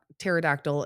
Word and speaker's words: pterodactyl: Why can't you hear a pterod pterodactyl in the bathroom? Okay. Think about it. I am. Why can't you hear a pterodactyl in the bathroom? Because the P is silent.